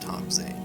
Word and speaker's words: Tom Zane: Tom Zane is, or his name's pronounced Tom Zane, but it's spelled differently.